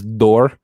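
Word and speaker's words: Dort: that was had around how dor pronounces his name he says door so uh my my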